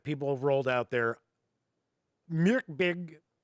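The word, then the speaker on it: Mörk Borg: Myrkbig or Myrkbig is close because it is not Mork Borg, which I made the mistake calling it originally.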